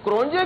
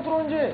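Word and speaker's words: Cronje: ठीक है जी, आप हांसी क्रोनी को ये वो क्रोनजे क्यों लिखते थे इकबाल भाई? नहीं, साउथ अफ्रीकन उसमें जो लैंग्वेज में जे को साइलेंट पढ़ते हैं, तो क्रोनी हमें क्यों पढ़ा रहे हैं वो क्रोनजे? आप काबिल हैं, आप तो उर्दू पढ़ते हैं ना यार।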